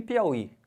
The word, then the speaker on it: Piauí: jogo essa pedrada para vocês aqui ó e Piauí Piauí tem acento ou não será que eu